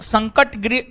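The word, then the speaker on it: Tso: लद्दाख का सो झील सो त साइलेंट है सो झील त साइलेंट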